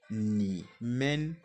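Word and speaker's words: 你们: Et pour vous, c'est ni men, ni men, ni men, ni men.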